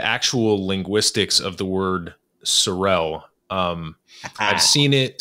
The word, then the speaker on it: Sorel: my product, my brand, Sorel, S-O-R, one single R-E-L, is called that because I have a speech impediment and I can't pronounce the letter R. So for me, trying to say Sorrel is like trying to say rural or terroir. It's an awful word.